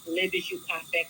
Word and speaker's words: Le Bijoux Parfum: Just the name alone, the correct way is Le Bijoux Parfum because it's a French name.